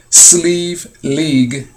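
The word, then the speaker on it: Slieve League: And the way sleeve is spelled, not in the traditional way, S-L-E-E-V-E, it's not spelled like that. So sleeve is spelled in this sense, S-L-I-E-V-E, league, and then it says third attempt.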